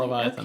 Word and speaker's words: Leviathan: Did I pronounce that Leviathan? Yes, correctly? Leviathan Okay, X.